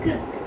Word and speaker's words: crypt: The same thing follows for the crypt. Crypt. So in between E. So crypt. In between the Y acts as I.